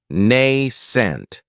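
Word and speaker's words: nascent: adjective is nent and this word has two syllables with the stress on that first syllable nay scent the second syllable has that nent if something is nent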